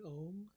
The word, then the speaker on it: om: and the word an om is said as a ma so you say it like this take a deep breath ah the sound the last sound is said with the mouth closed so it's so let's